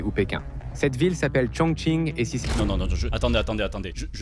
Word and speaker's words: Chongqing: Ah oui, le Q se prononce.